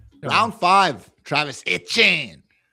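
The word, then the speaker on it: Etienne: Travis Travis Achan. Round five. Travis. Okay. Etchen on this show. I get it right. You have to really pronounce the French in there. Eh. Round five. Travis Chen.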